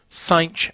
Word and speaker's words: sinh: Sinh x is how we pronounce it.